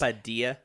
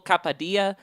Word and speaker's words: Kapadia: It stars John David Washington, Robert Pattinson, Elizabeth Debicki, I can't pronounce things. Capadilla. Dimple Kapadia, Michael Caine, and Kenneth Branagh.